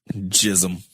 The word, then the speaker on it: Gzim: It's spelled Gzim. Jism. Jism.